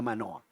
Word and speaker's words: Manoa: de Sansón se llamaba manoa y su esposa se llamaba no se dice la Biblia no dice la Biblia Cómo pero nosotros aquí en español diríamos la señora de manóa de manera que las